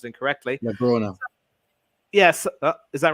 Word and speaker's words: Blaugrana: I do apologize to our Spanish friends and Barca fans if I pronounced it incorrectly. Blaugrana.